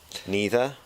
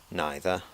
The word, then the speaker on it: neither: has the same meaning both pronunciations are acceptable neither neither either either now some people say